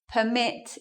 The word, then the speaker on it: permit: So permit here is a noun. Because it's a noun, we're going to stress the first syllable. And here, permit is in the verb form, so we're going to change it. We're going to do it like that.